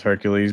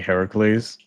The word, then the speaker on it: Heracles: I think it's maybe because uh you've been conditioned to hear it as Hercules but now you know it's supposed to be Heracles.